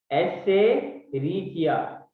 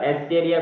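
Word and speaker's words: Escherichia: एस्चेरिचिया, पहले मुझे भी नहीं आता था पर मैंने सीख लिया। पहले मैं तो बोलता था एस्चेरिया कोलाई, तो मालूम चला कि नहीं, एस्चेरिया नहीं है।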